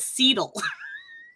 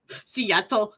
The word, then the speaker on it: Seattle: up to Seattle and he called it seedle and he was dead serious and I have never heard Seattle pronounce wrong but he was Hardcore on the seal how about Seattle no seedl yeah hey Connie from